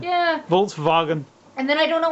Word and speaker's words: Volkswagen: speaking German is this I can't even say Volkswagen right Volkswagen yeah I couldn't even I mean w is a v in German yeah Volkswagen and then I don't